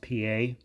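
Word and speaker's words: Pié: uniform another one is felix pa looks like pie but it's pronounced pa remember these guys pulling these guys out of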